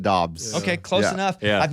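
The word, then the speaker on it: Doubs: know who he is we'll call him dabs yeah I think they pronounce it Dobbs okay close enough yeah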